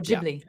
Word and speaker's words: Ghibli: I got into Ghibli, or Ghibli, as they say, soft G. The GH.